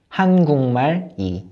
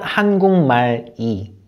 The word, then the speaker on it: 한국말이: So it's not 한국말 이, it's 한국말이.